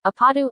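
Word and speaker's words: 아파트: both she and Mars used the Korean pronunciation of apartment apatu aadu throughout the song Two Usher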